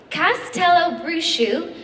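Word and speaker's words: Castelobruxo: Um, the first school I can exclusively reveal uh is, and by the way, this is phonetically spelled, so I'm definitely pronouncing it correctly, Castello Brusu in Brazil.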